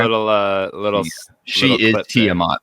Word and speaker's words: Tiamat: tamat Tate is that how you say it Tiamat Tiamat Tiamat oh yeah yeah that's a Tiamat